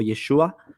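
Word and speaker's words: ישו: ¿Te refieres a Yeshu o Yeshua? Porque Yeshu es la pronunciación galilea de Yeshua, ¿sí?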